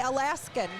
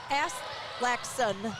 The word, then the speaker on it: Aslaxon: I want to say Alaskan, but it's Aslaxon.